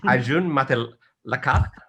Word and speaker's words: Arjun Matalakar: And finally, and again, this is going to be the toughest one for me to pronounce, Arjun Matalakar with Navitas. Is that correct? Yes, that's actually correct.